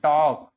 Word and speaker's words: talk: की क्या हो leash टॉक I have to टॉक L silent टलक नहीं बोलेंगे टॉक बोलेंगे आई हैव टू टॉक